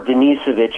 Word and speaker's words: Denisovich: the life of yvonne desonovich or denisovich is the way that they pronounce it in russian but the reason i